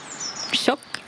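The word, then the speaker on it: tjock: Choc. Choc. Alors, T et J et K et J vont se prononcer SH en français.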